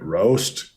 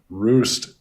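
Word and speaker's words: Roest: like how how you how do you pronounce that if you're a Dutch person right like all right roast keep Roost Roost I need to correct myself Roost staying under the 295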